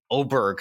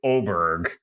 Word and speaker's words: Åberg: need to be saying oberg now apparently there's some sort of Scandinavian pronounce Nation I think it's oberg now I don't love this because it's spelled aberer but I think he's